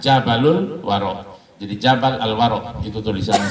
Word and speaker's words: Jabal Al-Waro: Jadi kalau ditulis boleh begini tulisannya, Jabal Al-Waro. Nanti dibacanya Jabalul Waro.